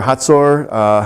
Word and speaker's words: Hazor: God sold them into the hand of Jabin, king of Canaan, Yabin, pronounced in Hebrew, who reigned up in Hazor or Hatzor.